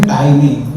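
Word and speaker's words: tiny: तो भी 5 मिनट में शरीर छोड़ने वाले उन्होंने बोला टीनी नहीं टाइनी, उसका प्रोनाउंसिएशन टाइनी है मुझे बोला।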